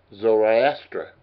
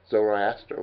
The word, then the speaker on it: Zoroaster: And the founder was, of course, Zoroaster, as they call it. And it's right, it's spelled S-O-R-O, like Zorro, and then A-S-T-E-R. Zoroaster was the founder of Zoroasterism.